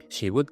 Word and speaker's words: would: le ponemos el delante would get a good Job She would get a good Job Fíjate que la l del Word no se pronuncia She would get a